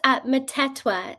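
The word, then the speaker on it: Mthethwa: It's, Metetwa, so all the H's in it are silent. So, Okay, Metetwa. Matetwa.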